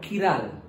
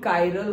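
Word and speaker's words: chiral: super इंपो उसको ही कायरल और किरालय तो हमने क्या बोला असमेट तो असमेट को ही कायरल असमेट को ही किरल किरल और कायरल तो प्रोनाउंस है ओके सो असमेट को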